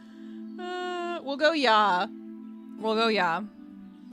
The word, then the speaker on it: ja: J A in German is pronounc pronounced yah. Oh, okay. So, you mean pronouncing it yah instead of ja.